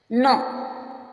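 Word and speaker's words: know: वो भी साइलेंट रहेगा नो नो मिस जानना नो पढ नो नो मीस जानना इसमें एन से पहले जो के आया है वो साइलेंट है नाइफ नाइफ में चाकू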